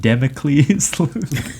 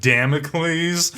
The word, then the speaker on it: Damocles: are you familiar with the sword of democles I believe it's pronounced Damocles okay damn he's in